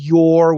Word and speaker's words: your: And this is your, which is a long O plus R.